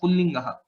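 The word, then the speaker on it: पुल्लिङ्गः: But while pronouncing, we pronounce it still as Pullingaha.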